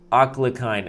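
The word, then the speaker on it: Alekhine: show you also wait it's not alakin attack it's a akine attack you didn't even spell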